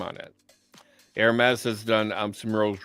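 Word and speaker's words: Hermès: do you say that Hermes Hermes the H is silence air mass Hermes and Hermes is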